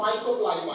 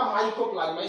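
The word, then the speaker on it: Mycoplasma: ये जो देख रहे हैं आप, ये है आपका माइकोप्लाज्मा। स्पेलिंग ध्यान देख रहे हैं, माइक्रो नहीं है, माइको देखिए वाई होगा, वहां आई लिख दिए, MYCO माइको होगा।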